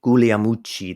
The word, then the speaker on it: Guglielmucci: Now, there was a guy named Danny Guglielmucci. That's how you say it properly, apparently. I heard him once correct us, but he was known as Danny Guglielmucci.